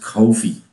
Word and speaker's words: Kofi: I was told it's pronounced Kofi.